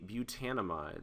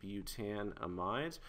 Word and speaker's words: butanamide: So a 4 carbon amide would be butanamide. So let me go ahead and write that down here. So this would be butanamide or butanamide, depending on how you prefer to pronounce this functional group.